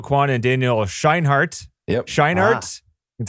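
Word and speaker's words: Scheinert: Scheinhardt.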